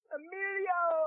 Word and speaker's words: Emilio: Everybody's got to say it just like this. This is how you say his name. Emilio!